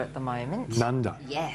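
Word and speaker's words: Nundah: I really like Nunda at the moment. Nunda? Yes. How do you spell that?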